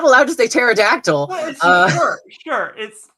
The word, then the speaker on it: pterodactyl: not allowed to stay pterodactyl sure it's fine i like their their stupid little hands and i like the silent p okay i'll i'll get